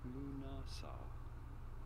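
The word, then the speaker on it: Lughnasadh: How do you go about pronouncing it? Lunasa.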